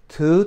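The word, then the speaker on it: tú: right now okay so two tienes 2 means U kind of Rhymes two and U okay two tienas but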